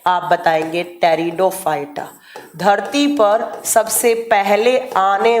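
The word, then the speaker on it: Pteridophyta: Next आपका आता है टेरिडोफाइटा जो लिखा किससे जाता है? पी से। और प्रोनाउंस किससे किया जाता है? तो टी से। टेरिडोफाइटा।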